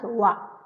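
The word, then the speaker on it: は: It is hiragana ha but when it used in a grammar, it pronounced as wa.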